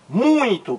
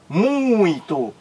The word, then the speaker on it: muito: é monossílabo pois bem esta sílaba aqui ó ela é nazal Ela é nasal muito pronuncie aí amigo Internauta você vai perceber que ela é nasal muito muito muito muita M mu é